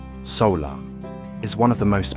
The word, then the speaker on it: Saola: The saer, pronounced solar, is one of the most mysterious large mammals on Earth.